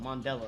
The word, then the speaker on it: Mondello: FTE Modell Modell Park is that mondelo mondelo that's how you pronounce it all right mutant